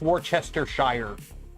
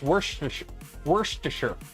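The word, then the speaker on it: Worcestershire: it can always happen yeah does anyone ever pronounce it right I know it's Worchester Shire sauce or Worchester Shire sauce but it's it's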